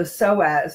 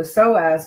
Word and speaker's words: psoas: that too but it's a matter of the psoas nut muscle and that word is spelled psoas and I'm going to give you